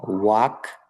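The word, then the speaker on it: walk: ঠিক আছে রান দৌড়ানো ওয়াক হাটা এখানে কিন্তু এলটা উচ্চারণে আসবে না ওয়াক এরপরে গো যাওয়া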